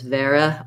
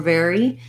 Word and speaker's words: very: tense a sound and watch out that your letter y you want to make sure you go back to a tense e sound i often hear it more as vera or vera in some non-native speakers because it's harder for them to do that tense e at the end of the word i do think i